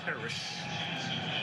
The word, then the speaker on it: Terrace: Yes, that's how he pronounces his first name, Terrace.